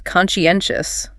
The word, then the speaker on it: conscientious: Next is conscientious. Bit of a mouthful, that one. Conscientious. Stress is way over on the third syllable. Conscientious. And that side part sounds like she.